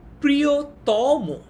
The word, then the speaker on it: প্রিয়তম: যেমন প্রিয়তম, ঠিক আছে, প্রিয়তম। এইখানে যে ম এর পর অটা আছে, ম এর পরে যে অটা আছে অনুজ্জভাবে, এই অটার কিন্তু উচ্চারণটা ও এর মতো হচ্ছে। আমরা কিন্তু বলি না যে প্রিয়তম, আমরা কি প্রিয়তম বলি? আমরা বলি প্রিয়তম, মো বলি, অটাকে ও এর মতো বলি।